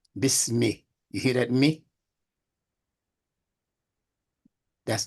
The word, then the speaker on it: bismi: Bismi. You hear that me? That's the kesra. Say bismi. Bismillah. Right. That's the kesra at the end of that. Bismi. Yeah. Not bisma, not bismu, bismi.